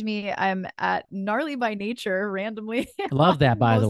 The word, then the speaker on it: Gnature: I'm at Gnarly by Nature, randomly. Love that, by the way. Most of my social media plus. So random. Nature spelled with a G-N because it's silent, because I thought I was clever at the time.